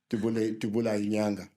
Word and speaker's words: Dubula Inyanga: Dubula Inyanga. You must say it properly. Yeah. In Fanagalo, the language that CNN speaks. In Zulu, it's Dubula Inyanga.